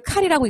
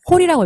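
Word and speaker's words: כל: 모든 뜻을 나타내는 콜인데 이거를 칼이라고 읽지 않고 콜이라고 읽으면 돼요. 콜.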